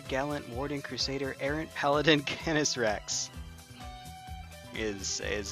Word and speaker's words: Canis Rex: Canis Rex. Wolf King in Latin. So give it the ye olde pretentious Latin pronunciation. That's what you do.